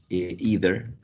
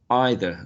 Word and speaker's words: either: English in United States general American would say II either either and in received pronunciation probably they would say I either okay so when they